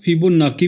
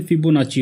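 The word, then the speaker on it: Fibonacci: इसको हम कुछ लोग फिबोनाकी भी बोलते हैं एंड कुछ लोग फिबोनाची भी बोलते हैं, लेकिन इसकी एक्चुअल प्रोनाउंसिएशन फिबोनाची होती है।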